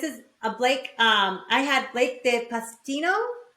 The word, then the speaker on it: Blake de Pastino: I had Blake de Pastino, right? Am I saying it correctly?